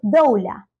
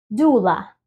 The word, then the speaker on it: doula: que es partera y partera no es doula sino que le quitamos la o y es tan sencillo como jula jula jula y lo mismo sucede